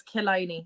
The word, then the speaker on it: Killiney: It's Killiney. I was saying Killiney and I was like, that doesn't seem right.